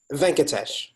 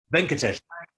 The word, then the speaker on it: Venkatesh: Is it just Venkesh? Venkat? It's What's the correct Venkatesh. pronunciation? Venkatesh. Venkatesh. Correct.